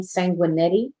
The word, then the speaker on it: Sanguinetti: I believe it's how she pronounced her name, Sanguinetti.